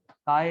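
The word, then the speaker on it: χ: काय है, ये कायच है। इसका प्रोनाउंसिएशन ही काय होता है।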